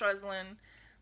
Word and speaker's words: Rosalind: but it was roslyn it was spelled rosalind and pronounced rosaline but she was named